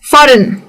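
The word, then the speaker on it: foreign: फॉरेन एन तो वो लंबा खींच रहा है। लेकिन बोलते वक्त प्रोनाउंस करते वक्त जी की आवाज नहीं आती है।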